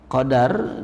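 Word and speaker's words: قدر: Alqadaru bifathid dal. Qadar dengan memfathahkan huruf dal dibacanya qadar berarti ya itu adalah takdirullahi taala lil kainat.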